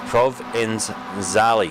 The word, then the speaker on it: Provenzali: He's told me how to pronounce his name. It's Provenzali.